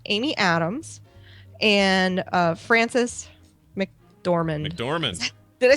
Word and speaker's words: McDormand: McDormand.